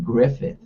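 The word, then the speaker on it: Gruffudd: last name um and apparently you pronounce his last name griffith that's what it is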